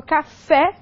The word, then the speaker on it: café: E nós temos a pronúncia aberta, então eu falo café, então nós temos aí a acentuação obrigatória da palavra, ok?